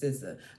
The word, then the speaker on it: SZA: All right, so I call her Cizaya. Everybody else said her name is SZA.